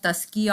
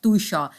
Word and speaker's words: Tuscia: The interview call, तो never say university of तस्किया और तुस्किया, always say university of तुषा because it's Italian university, so Italian pronunciation is Tuscia.